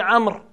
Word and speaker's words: عمرو: On ne dit pas Amr, on dit Amr.